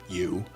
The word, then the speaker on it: EU: James's AI, which was named You, spelled EU, but pronounced You, had now become more than a chatbot.